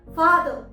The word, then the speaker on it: father: अगर कोई word are से एंड हो रहा है, रिमेंबर आर से एंड हो रहा है, तो उस समय भी हम आर को प्रोनाउंस नहीं करते। जैसे TEACHER, टीचर, ना कि टीचर, टीचर। FATHER, फादर। हम फादर नहीं बोलते हैं, र नहीं लगाते हैं एंड में, हम बोलते हैं फादर, फादर।